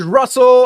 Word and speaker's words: Russell: This is Russell. I rhyme with funnel.